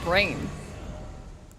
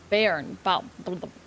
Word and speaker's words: bairn: A horned brain. Use FP to summon vengeful spirits around Caster. Reusable. Is this a talisman? Doll of Tanglehorn Barn. Oh, it's not brain. Bairn.